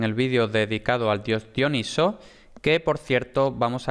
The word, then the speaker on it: Dioniso: que se oye mucho dionisio es un nombre de persona normal y dioniso es el nombre del dios también se le llama mucho diónisos pero eso no es más que la pronunciación griega entonces en español propiamente el dios se llama dioniso jana y sin la y de sio dioniso vale entonces dioniso como posiblemente